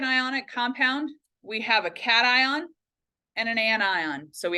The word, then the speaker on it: cation: It is not a cation. I know that that's how we would pronounce it, like vacation. I get that. But in the context of chemistry, it is a cation.